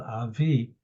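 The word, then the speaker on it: אבי: It's pronounced and spelled Avi as opposed to Av.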